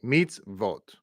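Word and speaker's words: מצוות: telling us is that the word to the right of the equal sign is pronounced the exact same way meets vot so this is one of those grammatical rules okay when you have the VAV with the dot on top preceded by a cheva in this case the chba is beneath the zadi then the pronunciation would involve adding another VAV sound okay this is just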